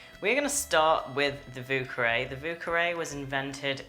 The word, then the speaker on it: Vieux Carré: the cocktail if you speak French the French pronunciation would be via cafe which means old square or old quarter but the Creole pronunciation is VUCA ray so don't make any mistakes there I have